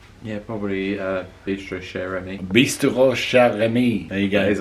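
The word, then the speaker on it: Bistrot Chez Rémy: Bistrot Chez Remy. There you go. That is what I wanted.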